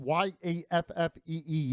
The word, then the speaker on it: Yaffee: It's spelled Y-A-F-F-E-E, YAFFEE.